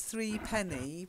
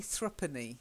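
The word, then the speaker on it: threepenny: then this next one I know it says three penny but we actually say thrupenny not three penny thrupenny yeah you really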